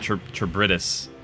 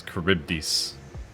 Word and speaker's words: Charybdis: It's not Charybdis. It's Charybdis.